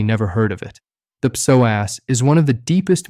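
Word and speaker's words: psoas: The muscle I'm talking about is called the soass. That's spelled PSO, but pronounced soaz.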